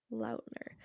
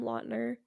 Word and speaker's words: Lautner: Wait, how do you pronounce his real last name? Lautner. Do you think that like mainstream media just gets it wrong too, because don't they call him Lautner?